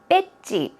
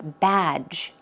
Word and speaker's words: badge: I think I often hear people saying 배지, 배지, right? That's the way a lot of Koreans pronounce the word, but it's badge, badge.